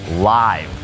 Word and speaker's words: Live: นั่น เอง นะ ครับ ตรง นี้ ออก เสียง ว่า Live นะ ครับ เอา ล่ะ ครับ ผม